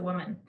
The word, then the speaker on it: Wound Man: und in brackets so if i'm being extra pretentious i pronounce it as woman with a silent wound i think there's something